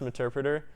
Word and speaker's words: Meterpreter: It's pronounced pronounced Meterpreter.